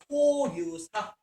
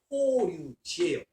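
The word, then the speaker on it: 法隆寺: 그래서 쇼토쿠 태자 역시 강력한 국가의 힘을 보여주고자 거대한 사원을 조성했으니 그게 바로 호류사, 일본식으로 사를 발음하면 지거든요. 지는 절이라는 뜻이에요. 호류지예요.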